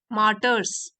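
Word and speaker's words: martyr: मार्टर्स, शहीद, इसकी pronunciation है मार्टर, और ये प्लूरल है, मार्टर्स शहीद।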